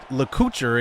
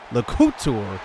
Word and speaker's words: LeCouture: It isn't LeCouture, it was LeCouture on the carry that time.